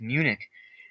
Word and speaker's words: Munich: And I was like, wait, it's Munich.